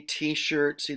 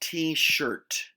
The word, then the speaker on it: t-shirt: Um, See t-shirt, see the t-shirt here? It's pronounced t-shirt, not t-shirts. You got that? So you've got to enunciate the T sound at the end.